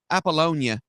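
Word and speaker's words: Apollonia: maybe she's digs apal appollonia that's how you say it okay aalona was a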